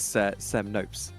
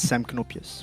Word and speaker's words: Sem Knoopjes: I believe it's Sem Nopes. Yeah, so I'm Dutch, so it would be Nopes if I was English, but it's Sem Knoopjes with a K, so the K isn't silent.